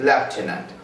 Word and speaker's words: lieutenant: Similar is the case with lieutenant. The spelling is altogether different and the pronunciation is altogether different here.